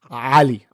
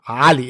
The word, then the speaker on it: Ali: in the middle east ali ali it's a guttural a i can barely do